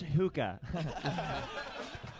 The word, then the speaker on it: hookah: Tony, it's pronounced hookah.